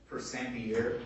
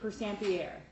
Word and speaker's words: Persampiere: I don't know how you pronounce it. And Persampiere. What is it? Persampiere. Persampiere.